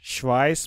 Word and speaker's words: Schweiz: شوایس از سوئیس پس شوایس میشه سوئیس اینجا نکته تلفظی داریم هرگاه اس سی اچ پشت سرم اومدم صدای ش میده ش میده ش میده اوکی اوکی